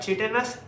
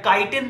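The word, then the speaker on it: chitin: the body of arthropods की अगर हम बात करें, ठीक है, body of arthropods is covered by चिटिनस exoskeleton, body of arthropods में चिटिन होता है, या काइटिन तुम इसे बोल सकते हो, तुम जो बोलोगे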